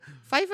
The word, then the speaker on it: Pfeiffer: Pfeiffer is PF, isn't it? Yeah, but it's Like pronounced pterodactyl.